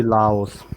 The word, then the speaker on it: Laos: personally I say always say Laos. Laos. I say Lao, kind of Okay. without an S, but Is Yeah, I always pronounce yeah. the S, but I've seen many people not pronouncing the S.